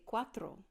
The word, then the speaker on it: cuatro: gonna want to say cuatro kind of like the Audi Quattro but if you can try to learn how to roll your R's because that makes all the difference in the world to say 5 you're